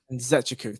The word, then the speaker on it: Nzechukwu: Nzechukwu, thank you.